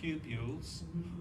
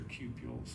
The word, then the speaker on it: cupules: We call these cupules, or sometimes it's pronounced cupules, but a British friend of mine corrected me. He says, no, they're cupules.